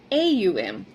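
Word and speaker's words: Aum: Om is not like what we see like om. It's actually a m, which is three syllables.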